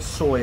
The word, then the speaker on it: soi: never been to thailand the word soy and it's spelled s-o-i yes it's it's a